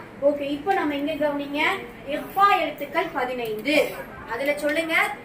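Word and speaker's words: إخفاء: இக்ஃபா சொல்லக்கூடாது. இஃபா ஹாவுடைய உச்சரிப்பு வரும்.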